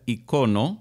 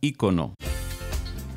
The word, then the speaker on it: icono: icono de la música palabra que En España se pronuncia icono y en las Américas es palabra esdrújula icono F regresa después de